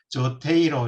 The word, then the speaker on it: Zotero: 조테로는 여러분들 알다시피 뭐 그 원래 원문 원래 발음대로 하면 조테이로 이렇게 하던데요.